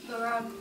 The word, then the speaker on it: Moran: Moran. Moran. Oh, the stress is on the second syllable.